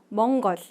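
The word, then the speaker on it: Монгол: 몽골어로 어떻게 부르게 될까요 우리는 몽골이라고 부르지만 몽골어로 발음을 했을 때는 몽거 몽거이라고 L 발음이 굉장히 강하게 살아나죠 여기서 봤을 때 처음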